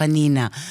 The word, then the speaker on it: Anina: In closing, what we like to do, Chef Anina, am I pronouncing it right? That's perfect. Which means little Anna. And that's what that's why Chef Anina.